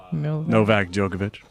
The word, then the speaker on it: Novak Djokovic: Novak Djokovic.